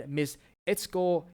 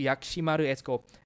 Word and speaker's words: Yakimaru: a brilliant guitarist and missco Y sorry it's Yak it's actually yakimaru in Japanese it's kind